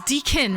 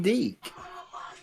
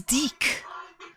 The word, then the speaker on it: Deke: Well, it's Deakin, right? But it's... How do you say your name? Deaky? Deakin, right? No, it's Deke. Oh, it's Deek.